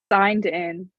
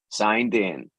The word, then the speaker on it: signed in: So the D moves over to meet the in and sounds din.